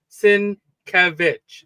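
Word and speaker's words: Sienkiewicz: Sinkevich. Sinc, you know, he he the the accent is on the middle uh syllable there.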